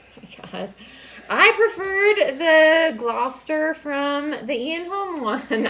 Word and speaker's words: Gloucester: Gloucester Gloucester is played by Jim Broadbent.